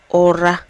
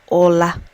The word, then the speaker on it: Ụra: Today's Igbo word is ora. Some people call it ola.